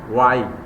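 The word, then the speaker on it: Wye: river what's the name of the river river why why speak with me pronounce with me River Why River Why during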